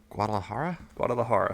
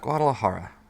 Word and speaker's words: Guadalajara: at Cinemax Millennium in, let me try and pronounce this, Guadalajara? Guadalajara.